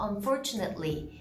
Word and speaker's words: unfortunately: 근데 여기는 부사 안에 단어 A, 그 철자가 ATE가 들어가져 있을 경우에는 itly라고 해요. atly라고 하지 않고 itly, 그래서 unfortunately, immediately, approximately라고 발음을 해주죠.